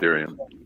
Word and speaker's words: Ethereum: It's Ethereum.